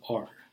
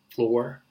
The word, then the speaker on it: flour: It's Flour.